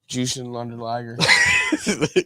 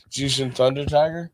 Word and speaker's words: Jushin Thunder Liger: I just said the name wrong. I know. Jushin Thunder Liger. You did it again, but okay. Jushin Thunder Tiger.